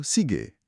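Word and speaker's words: 시계: Jam itu sige. Ini katanya lebih lembut bunyinya. Sige.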